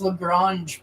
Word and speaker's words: Lagrange: I'm Dell and it's it's pronounced lrange Point okay I'm primar Scott of